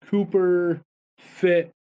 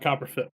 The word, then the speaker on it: Copper Fit: had a this special cooper fit knee brace on all day that's infused with methanol is that cooper fit or copper fit uh copper fit sorry about that this mispronounced the word there uh anyway back to